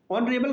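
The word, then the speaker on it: honorable: ये देखिए ऑनरेबल का पहला अक्षर एच साइलेंट होता है और इसका उच्चारण ओ यानी कि वोवेल साउंड से होता है।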